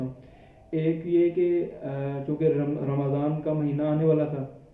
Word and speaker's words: رمضان: ہے۔ عام طور پہ ہم لوگ اس کو رمضان کہہ دیتے ہیں، جس میں ہم را کے اوپر زبر اور میم کو ہم ساکن کر دیتے ہیں، رمضان۔ لیکن جو اس کا صحیح تلفظ ہے وہ ہے رمضان، را کے اوپر بھی زبر ہے اور میم کے اوپر